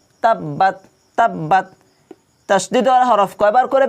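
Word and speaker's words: تَبَّتْ: তাব্বাত তাব্বাত তাশদি হরফ কয়বার করে ব্যবহার হয় দুইবার করে ব্যবহার হয় তাব বা একবার উচ্চারণ হয়েছে বাদ কয়বার হলো বা টা দুইবার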